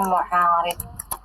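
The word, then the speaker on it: مُعَارِض: Dengan demikian, lafaz yang terdiri dari mim, ain, alif, dan ra, dan dad ini juga dibacanya dengan pola isim fa'il, yaitu wazannya mufa'il, sehingga kita membacanya mu'arid.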